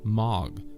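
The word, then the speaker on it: מג: Another letter down, and there is the Hebrew characters as shown here, phonetically pronounced as Mag, which translates as magician, Majus.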